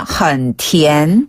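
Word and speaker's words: 很甜: 어 그래서 매우 달라고 하려면 헌티엔 헌티엔 헌티엔 헌티엔 그렇죠. 티귿 발음의 TN 발음이고요.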